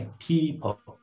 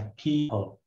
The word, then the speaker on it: people: Chú ý chữ này. People. E kéo dài. People.